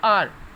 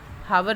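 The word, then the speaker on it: hour: इसको हम रीड कर लेंगे आर, हावर रीड नहीं करेंगे हम इसको, एच इसमें साइलेंट है।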